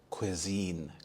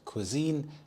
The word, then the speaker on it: cuisine: when you go there cuisine cuisine is a specific type of food to a place or a country this word Cuisine is pronounced as quisine so qu as in quick I as in it and Zen rhymes with